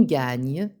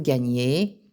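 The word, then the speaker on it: gagnent: On gagne. Nous gagnons. Vous gagnez. Il gagne. Elle gagne. Attention à la prononciation de il gagne et elle gagne au pluriel. Le nt à la fin se prononce e.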